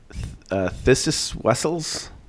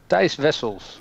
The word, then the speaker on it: Thijs Wessels: This is Thysis Wessels. Thijs Wessels.